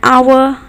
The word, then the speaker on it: hour: Here, the H is silent. That is why the letter that follows is used as the first letter. So O, an hour. In the same way with honest man, you're saying honest.